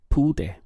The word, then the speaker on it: pude: In Spanish, this would be no pude. Just 2 syllables, pu and de.